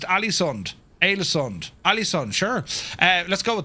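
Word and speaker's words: Ålesund: I think the first word of the first stop is pronounced Alesund.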